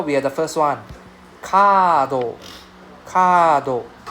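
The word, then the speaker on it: カード: Kado. Kado. Right? So card. Right? Kado. So it's a long A sound.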